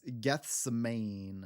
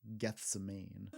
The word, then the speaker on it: Gethsemane: Gethsemane, like ghost man. Gethsemane.